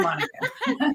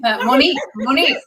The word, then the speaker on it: Monique: Thank you, Monica. Monique, I got to say your name right.